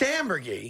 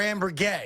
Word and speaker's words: ambergris: finish that thought it's it's ambergris yeah not amber or amber gay correct it's not that complicated